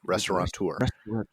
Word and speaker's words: restaurateur: Well, I'll have to admit that on SBTV we said that it said it the same way, restaurateur. And I have a feeling, I've never asked my current restaurant, how do you say it? Restaurateurs, how they pronounce it. But some of my other friends in the past have always pronounced it the incorrect way. With the N, yeah.